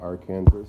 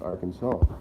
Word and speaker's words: Arkansas: the event someone corrected me and it's not our canvas it's Arkansas I think that's what I thought so which